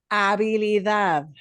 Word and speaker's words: habilidad: Habilidad. We're going to punch the end syllable in all of these. When you have a the word or a the word, we always punch the end more.